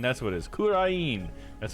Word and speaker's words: Kurain: Kurain, that's what it is, Kurain.